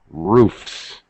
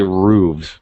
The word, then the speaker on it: roofs: clock clocks cat cats roof roofs some people actually say roofs by the way because some of our we'll get into that later where the actual consonant sound will change it's actually either is considered correct all right so these